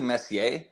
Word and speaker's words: Messier: the word properly uh it's actually Messier but everyone seems to call it Messier which is fine because